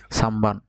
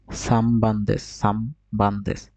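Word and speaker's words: 三番: বুঝতে পারছেন, মানে নয়ের পরে যদি বাপ মা থাকে তাহলে এর উচ্চারণ হবে, নয়ের উচ্চারণ হবে ম।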